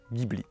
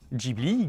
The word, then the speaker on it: Ghibli: Donc officiellement Jibli Gibli ou Jibili c'est d'origine italienne et donc ça devrait se prononcer adjibili avec les mains.